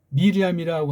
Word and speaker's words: 미리암: 그러니까 이걸 이제 따지면 마리암 구약 발음은 미리암이라고 하는 미리암의 피를 받으신 거잖아요